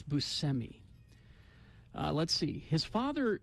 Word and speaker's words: Buscemi: trivia oh semi Buscemi we all say it wrong I know it's Buscemi uh let's see his